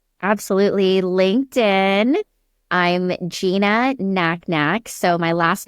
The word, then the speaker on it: Nacnac: I'm Gina Knacknack. So, my last name is spelled NAC NAC.